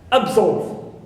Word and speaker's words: absolve: not the prefix AB I have also the prefix AB like abnormal absolve so here AB is neutral no stress on it clear stress is on nor also on uh solve or solve right also I have